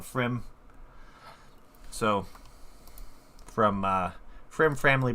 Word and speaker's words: Pfriem: it makes sense that that p in the front is silent so frim so from uh frim